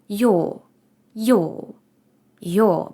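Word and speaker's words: ㅛ: само відрізняється тим що ми її більш контрольовано вимовляємо йо йо йо бачите в мене дуже такий вузький рот виходить йо Угу пробуйте одразу про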